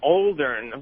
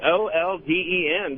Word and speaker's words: olden: Well, you're talking about mispronouncing words, and about 10 times a day, Anthony says Oldern with an R in there, and I could be wrong, but I think it's Olden, just in the olden days.